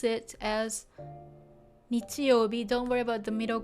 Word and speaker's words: 日曜日: As long as you can identify it and know that it means Sunday, and if you can pronounce it as nichiyobi, don't worry about the middle kanji again.